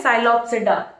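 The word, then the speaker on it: Psilopsida: ठीक है, क्या होती है, साइलोप्सिडा, ई साइलेंट होता है।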